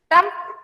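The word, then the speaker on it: triumph: Trump. T-R-I-U-M-P-H. What is the meaning of trump? इसको pronounce करते हैं trump.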